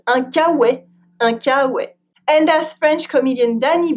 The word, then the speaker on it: K-Way: And it's pronounced with a French accent un kawe.